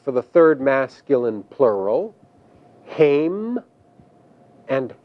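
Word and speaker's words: הֵם: There are two forms for the third masculine plural, haim and hema.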